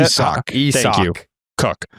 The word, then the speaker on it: Isaac: You're just saying Isaac with like a little. I'm trying to say it right. Yeah. Isaac. No, you're using a Z. It's an S still. Isak. Closer. Isak.